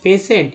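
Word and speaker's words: patient: Next है रोगी, पेशेंट, ई आई एन टी को एंट बोलते हैं, पी से पे, टी आई को स उच्चारण करते हैं इसलिए पेशेंट पढ़ा जाता है।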